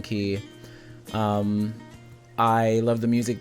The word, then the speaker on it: Quay: or golden key um I say Quay cuz it's spelled q u a y but it's golden key um I love the